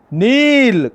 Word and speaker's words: knee: Kneel. K is a silent. We should not pronounce K. Knee. KNEE. Knee. Knee is a correct pronunciation.